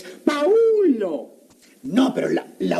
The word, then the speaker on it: Paulo: Palo vi. ¿Cómo? Palo vi. Pues ahí dice. En primer lugar, no es palo, es Paulo.